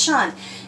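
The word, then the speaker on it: -tion: Remember I told you when you see T-I-O-N, you're just going to say shun. We're not going to sound it out. It just says shun.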